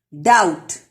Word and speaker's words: doubt: Doubt, B is silent.